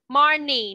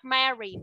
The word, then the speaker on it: Marnie: Marnie, not Mary. Marnie.